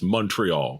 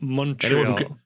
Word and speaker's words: Montreal: You got if you're a ball miller you got to pronounce it like you're actually from Canada. It's Montreal. Montreal.